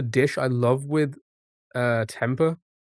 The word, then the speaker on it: tempeh: How do you how do you pronounce that? Temper. Temper. And now you want it. Peanut curry was sliced. Tempe consuming and no one else will eat it. Tempe. Tempe. Tempeh. Fermented soybeans.